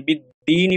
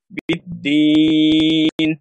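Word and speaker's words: بالدين: এবং যখন আমরা থামি তখন শেষের যে হরকতটা আছে এটাকে আমরা সাকিন হিসেবে উচ্চারণ করি, যেমন বিদ্দিনই পড়ি না আমরা, আমরা পড়ি বিদ্দিন, তাহলে তিন আলিফ টান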